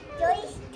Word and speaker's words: জ্যৈষ্ঠ: জ্যৈষ্ঠ আগে কি উচ্চারণ করছিলি? জৈঠ মাস। জৈঠ জ্যৈষ্ঠ মাস 32 দিন 17ই মে 17ই জুন।